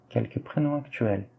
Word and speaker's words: actuels: E quelques prénoms actuels, sem o T, tá?